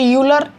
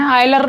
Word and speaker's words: Euler: बहुत बड़े मैथमेटिशियन हुए, आयलर, कभी कभी यूलर, EULER उनके नेम की स्पेलिंग है। ठीक है, आप आयलर पढ़ लीजिए, यूलर पढ़ लीजिए, जैसे भी चाहें। आयलर वैसे सही प्रोनाउंसिएशन होता है।